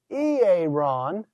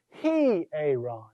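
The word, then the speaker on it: ἱερόν: It's not simply ieron. Yeah, with the rough breather, it's a heh sound. He-aaron.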